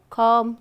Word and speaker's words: calm: i have for you calm climb num so all have be silent right then there was uh